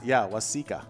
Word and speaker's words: Waseca: Waseca.